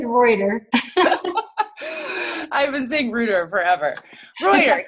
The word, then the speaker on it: Reuter: wrong i feel like i always say ruder are you serious dana i am no it's reuter i've been seeing ruder